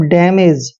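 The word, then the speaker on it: damage: दोस्तों डी का उच्चारण डे करते हैं, ए को ए की मात्रा पढ़ते हैं और एम को मैं लिखते हैं, ए को ए की मात्रा पढ़ते हैं और जी ई का उच्चारण जय करेंगे, मतलब डैमेज।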